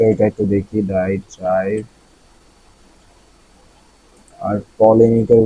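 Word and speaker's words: polemic: আর পলেমিকের উচ্চারণটা কি ঠিক আছে?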